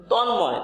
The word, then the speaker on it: তন্ময়: এখানে কিন্তু ম দ্বিত্ব করেনি, এখানে ন এবং ম উভয়ের উচ্চারণ থাকার কারণে আমরা এখানে এটিকে যুক্ত বর্ণ ভেবে এটিকে ভেঙে দিয়েছি।